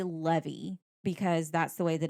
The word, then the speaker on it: Levi: March 26th, unaware of whether it's, I pronounce it Levy, some say Levi, some do not, some don't. So I'll say Levi.